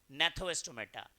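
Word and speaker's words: Gnathostomata: रहे थे अनेथोस्टोमेटा और जीनेथोस्टोमेटा जी साइलेंट है तो आप नेथो भी कह सकते हैं नेथोस्टोमेटा अनेथोस्टोमेटा के जो ऑर्गेनिज्म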